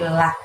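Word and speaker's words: الله: Lalu nilnya langsung masukkan ke lafaz Allah di depannya dan lafdzul jalalah Allah tadi itu dibacanya tipis ya. Jadi bukan loh tapi lah.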